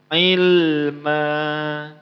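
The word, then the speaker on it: عِلْمًا: Mad iwad itu apa? Fathah tain atau tanwin an apabila berhenti karena waqaf ataupun berhenti dengan ayat, maka cara bacanya dihilangkan satu baris. Barisnya dihilangkan satu, kemudian dipanjangkan. Ilma.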